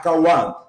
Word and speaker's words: Khayyam: Mas é igualzinho, você só faz o K forte. É Omar Khayyam. Khayyam.